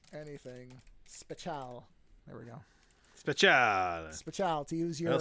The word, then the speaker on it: speciale: Yeah, no, it's just speciale.